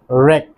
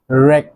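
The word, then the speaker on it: wreck: দেন রয়েছে রেক, রেক ধ্বংস।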